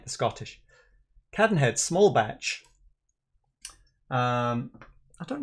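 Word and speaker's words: Cadenhead: browsed past it but it is the Caden head or the cabin head I should say cat and head say it like the Scottish cat and head small batch um I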